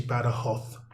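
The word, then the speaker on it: Badajoz: it looks like better jobs but it's actually better hoth as they pronounce it here and the kathras province i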